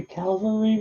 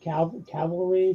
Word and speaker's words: cavalry: soldiers mounted on horseback so what is a Calvary raid that is correct I have trouble pronouncing that word Cavalry so you just have to you got it